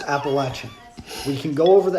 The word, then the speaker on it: Appalachian: not gonna let slide it's appalachian it is pronounced appalachian we can go over the etymology appalachian pronunciation